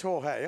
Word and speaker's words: Jorge: Is that Jorge? Is that how you spell Jorge? I should have really checked this out because in English that's like George. Yeah, it is Jorge.